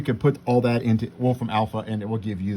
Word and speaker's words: Wolfram Alpha: what the word I was saying well it's Wolfram Alpha you could put all that into Wolfram Alpha and it will give you the integral